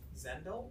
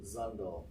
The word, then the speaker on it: Zundel: And then I think the last one I have is, is it Zendel? Zundel. Sorry, Zundel. rhymes with bundle.